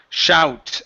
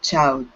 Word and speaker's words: shout: instead of shoot okay this is an ow sound shout I heard myself shout I heard myself chout okay give me an sh there instead of chout it's sh shout I heard myself shout